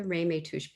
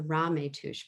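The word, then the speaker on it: Ramaytush: to a speaker and i've been saying it wrong it's not the reimay tuch people it's the rame tush people and um his father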